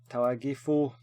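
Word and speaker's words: Tagliafico: And then Talagifo, that's how you say it, Talagifo.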